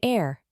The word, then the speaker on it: heir: Words beginning with a silent H. Example: an hour, an heir, an heirloom, an honest man, an honorable man, etc.